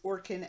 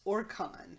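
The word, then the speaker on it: Orkan: Welch pronounces Orcan as Orcon is fun.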